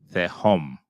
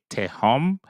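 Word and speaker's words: תְּהוֹם: Some people will say te home. They will pronounce the T sound, the hard sound for the tau, but to each his own. It's more TH sound, the home, the home.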